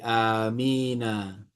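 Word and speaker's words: آمين: Maka ketika disambung Heeh. faatah pada huruf nun. Heeh. gitu saya disambung fathah maka diberi fathah nunnya jadi amina. Oh maka ketika di diwasal atau disambung iya huruf nunnya diberi fathah gitu ya. Iya gitu. Oh diberi fatah karena pertemuan dua sukun.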